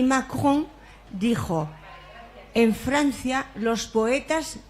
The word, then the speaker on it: Macron: Macron y lo dices. La has pronunciado muy bien, Rosa. ¿El qué? Macrón, que es como también la galleta esa que se compra allí, ¿no?